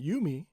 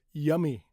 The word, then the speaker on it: Yumi: because for example uh if you know somebody named Yumi right a girl named Yumi y u m i yumi as an American I can read it as yummy right yummy almost similar spelling But that's wrong pronunciation. That's not her name. Her name isn't Yummy.